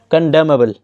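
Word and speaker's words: condemnable: piece इसका antonym है कंडेम बल यह इसमें एन साइलेंट है कंडेम बल का मतलब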